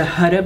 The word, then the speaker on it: Huda: pot of beauty or huda beauty however you want to pronounce it the Hutta Beauty a desert dusk palette